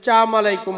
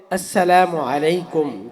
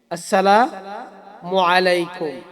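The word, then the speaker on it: السلام عليكم: অনেকে আছে আমাদের ভিতরে যে চাম আলাইকুম বলে আবা অনেকে বলেন সালাম। অনেকে বলে থাকেন সালাম। চাম আলাইকুম। এগুলো বলা যাবে না। সালাম দিতে হবে। আসসালামু আলাইকুম।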